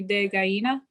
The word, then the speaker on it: ají de gallina: ají de gallina. Do you know how to spell that?